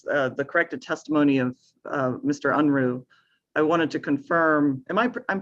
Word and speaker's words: Unruh: Unruh. I wanted to confirm, I'm pronouncing that correctly, Mr. Unruh?